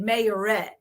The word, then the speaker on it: Marietta: You say it like it has an A in it. And I was spelling it out in my head, and he said mayorette.